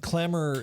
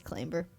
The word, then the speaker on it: clamor: a very young and clamor is spelled c-l-a-m-o-r for American friends yeah I'm gonna blame my Japanese Dutch British American damn hybrid father and my English and French Canadian mother for why I think it's clamber and or my brother